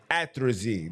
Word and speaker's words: atrazine: And they created something of the notion of, let me make sure I say it right, because I had it right and then I said it wrong. Atrazine, there we go.